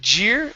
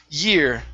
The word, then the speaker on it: year: the word year and instead of jeer it's year that same year the